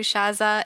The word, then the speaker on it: Shatha: Well, awesome, Shaz. I'm saying your name wrong. Shatha.